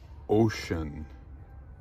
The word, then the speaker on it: Wouxun: a handy talky radio it's gmrs from it's pronounced ocean yeah chinese radio but it's supposed to be